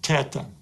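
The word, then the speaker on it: theta: The next letter is Teta and it gives us a sound t as in the word top. Some prefer to pronounce it as in the word theology but I prefer t.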